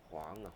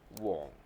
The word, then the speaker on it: 黃: Huang, Huang, may be different, okay? And Cantonese is I know it's the best because I'm myself the Cantonese. Wong, okay, that's how to pronounce Wong.